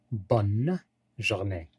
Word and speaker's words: bonne journée: nous avons bonne donc on prononce clairement la lettre n bonne journée c'est ça et bonjour